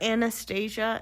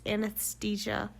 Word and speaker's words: anesthesia: And I tell you, they did not have very good anesthesia at the time, Did you just call it Anastasia? It's anesthesia. Anesthesia, close enough.